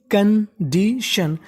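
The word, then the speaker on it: condition: टी आई यू एन को हम लोग पढ़ते हैं शन। तो मीनिंग बन गई कंडीशन।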